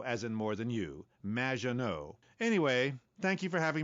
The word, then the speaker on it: Maginot: in the future there will be robots Maginot welcome to the show thanks Amy however you have mispronounced my name it's m which rhymes with